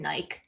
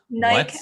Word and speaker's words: Nike: Side note, did you know in England they call them Nike? What? Nike, as in it rhymes with like.